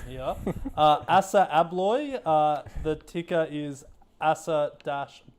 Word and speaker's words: Assa Abloy: it yeah no you're absolutely right it is a blog so well well done so what do they